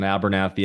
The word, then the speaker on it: Abernathey: On Abernathey at the end, it's EY. Don't forget that silent E there.